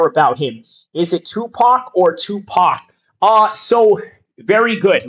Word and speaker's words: Tupac: and even till now, they would pronounce Tupac as Tupac, okay? But if you're like, really hood or Afrocentric or want to be very correct in how to pronounce it, it's Tupac.